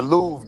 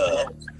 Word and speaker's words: Louvre: Louvre. He Yeah, doesn't I'm know about that to hit it. the R and the E is silent.